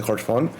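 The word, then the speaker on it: Haurchefant: en X, como Yox, otros que acaban en una T silenciosa como Hodgfont, que se pone la T pero por ende no se pronuncia, se dice Hodgfont.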